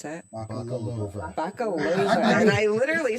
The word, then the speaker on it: Bakalova: Oh, sorry, I mispronounced that. Bakalova.